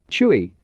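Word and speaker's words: chui: associated with the lungs chewy pronounced like chuwi with a forceful exhale which is associated with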